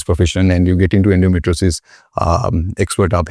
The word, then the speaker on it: endometriosis: The term is endometriosis, if I'm saying it correctly.